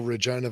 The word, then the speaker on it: Regina: The city that rhymes with... That's overdone now, isn't it? It is, yeah. It's but just still kind of fun to say. Once the city temporarily embraced the whole Regina vagina thing for about 5 minutes,